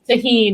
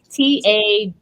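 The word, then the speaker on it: Tajín: Just like this tahine, it's Tajin. Mm-hmm.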